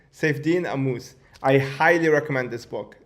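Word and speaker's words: Saifedean Ammous: Oh yeah, shit, I butchered his name. His name is Saifedean Amus. Saifedean Amus.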